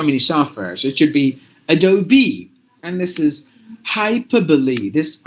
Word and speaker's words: Adobe: there are so many softwares it should be Adobe and this is hyperbole this R is mute